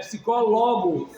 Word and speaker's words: psicólogo: Porque para ser paroxítona teria que ser psicólogo. Entende? Psicólogo. É proparoxítona.